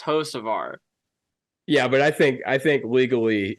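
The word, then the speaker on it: Hocevar: So if you do see him, just be like, my guy, it's pronounced Hosevar.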